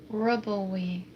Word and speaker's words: RWBY: Why do they spell it like that? RWBY. Ruby. Yeah, Ruby. pronounced Ruby.